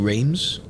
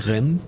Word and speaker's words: Reims: I keep saying Reims, but apparently it's like Reims.